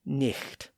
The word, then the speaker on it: night: So the word night was originally pronounced more like nik.